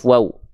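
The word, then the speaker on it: و: Kedua bibir untuk huruf waw diapain, Bang? Lisyafatainil wawu ba'un mimu. Kedua bibir dengan posisi maju diucapkan seperti mengucapkan huruf U.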